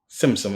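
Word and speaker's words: Tzimtzum: Simsim, it has a T, but you pronounce it like tsunami.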